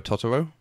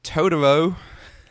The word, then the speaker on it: Totoro: version of my neighbor tooro which is pronounced exactly like that my neighbor tooro but in the American dub it's todoro come play with us todoro it GRS a little